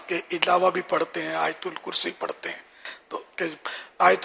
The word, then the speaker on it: آیت الکرسی: آیت الکرسی بولتے ہیں، صحیح تلفظ آیت الکرسی، یا بعض حمزہ پڑھتے ہیں آیت الکرسی، آیت یہ حمزہ بھی نہیں ہے، یا ہے آیت الکرسی۔ تو ہر ایک کو